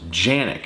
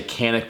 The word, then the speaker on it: Canik: just going to say canic because it does start with a c but I've heard people say it's pronounced with a J just U something about